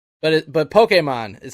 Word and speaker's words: Pokémon: It's Pokemon. That's how you say it. Pokemon. That's the correct way. That one I've known. Sometimes I slip and say Pokemon, but it but Pokemon is how you say it.